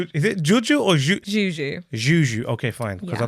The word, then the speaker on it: Juju: Hi, I'm Juju. Wait, let me can't help it. talking about. Is it Juju or Juju? Juju.